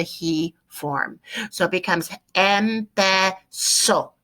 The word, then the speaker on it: empezó: So it becomes empezó. Accent on the O, accent on the O.